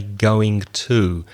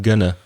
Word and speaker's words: gonna: probably gonna be sunny notice the pronunciation we don't usually say going to we make it a weak form especially the two so I'm not going to but gonna do you think it's